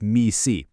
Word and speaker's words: MECE: It's pronounced MECE.